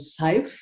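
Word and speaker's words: Szyf: His name is Moshe Seif, and I believe Seif is spelled SYZF.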